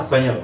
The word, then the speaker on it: abanyol: di situ tulisnya abanol, bacanya abanyol Pak. Abanyol karena mestinya N-nya itu N yang NJ NJ itu Jawa ada, ya?